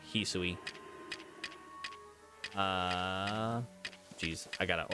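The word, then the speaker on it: Hisui: um an evolution here in the Hooui region. His the better pronunciation. Hisoi.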